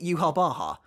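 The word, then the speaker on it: Yhwach: or is it yuhabaha for as long as I can remember I've personally called the Quincy King yuhabak but people didn't really like that so for the most recent video I tried to Pivot to yuha Baha as is pronounced in the Japanese sub but it turns out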